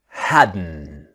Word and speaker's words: hadn't: The t is silent. Okay. So let's start our practice. Now remember the pronunciation is haden.